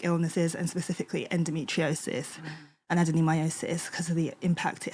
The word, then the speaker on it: adenomyosis: And not only that, you also have adenomyosis.